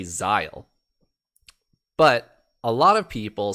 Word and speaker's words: Zahel: two different characters because there's no i and there's no e for anything to to give it the zai part of that first the first syllable so it's z-a-h-e-l and they say xyle but a lot of